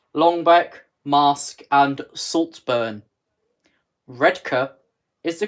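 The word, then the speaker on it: Redcar: central red gates long back mask and saltburn red Kerr is the correct pronunciation red cup oh I didn't actually sell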